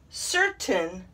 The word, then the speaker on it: certain: when we're practicing phonics but in these words we take the a i and we shorten it into a short i sound why i don't know so here is how they should be pronounced mountain certain curtain and fountain yeah all of them have a short i sound and not a long a sound and c right here